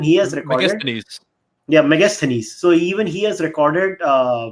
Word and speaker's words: Megasthenes: to India even he has recognized you have megasthenes so even he has recorded video burning but